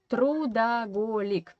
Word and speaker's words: трудоголик: Okay, and in Russian we have the word трудоголик. Трудоголик. Golik, it derives from English holic, alcoholic, workaholic, yeah, but we pronounce this part as golik, yeah, and trud, it